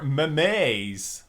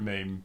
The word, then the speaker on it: meme: australia doesn't actually exist i used to think they were mays i didn't know how to say it first when i saw the word meme but it's mean it's me yeah um it could